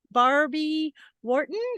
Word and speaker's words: Barbie Wharton: I have the privilege and honor to have Barbie Wharton am I pronouncing that right Barbie it is that's correct